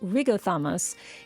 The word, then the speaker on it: Riothamus: Now to be clear, the name Riothamus, which in the British language is actually pronounced something like Rigothamus, isn't a personal name.